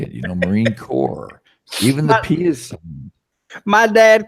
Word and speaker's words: Marine Corps: everybody core everybody knows you don't say marine corpse the S is silent it's Marine Corps well I didn't know